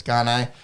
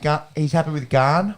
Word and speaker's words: Gane: I do believe it's Gane. In the French, as you would. Yeah. But I'm following you. But he's happy with Garn, which is I believe how Rogan was pronouncing it, and he's happy even if you were to rhyme it with Gain. Cyril Gain.